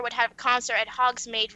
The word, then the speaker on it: Hogsmeade: Then I saw a poster saying that MCR would have a concert at Hogsmeade right then.